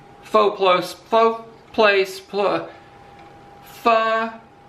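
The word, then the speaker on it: phở: plos float place pla fur is how you pronounce it but i pronounce it fo i'm not even going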